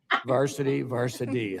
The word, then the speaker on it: VASRD: To what extent do outdated portions of the VASRD, do you even use that in a pronunciation in an acronym, VASRD? VASRD. Yeah, boy. Varsity, huh?